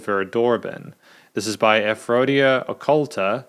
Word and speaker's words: Verdorben: start of the review I incorrectly uh pronounce the the name of the song as Vera doben the song is actually called Vera doroben this is by aphrodia